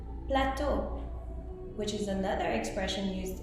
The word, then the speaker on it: plateau: Now EAU, O means water, but you will also find it in other words like plateau, which is another expression used in American English, and plateau can mean several things.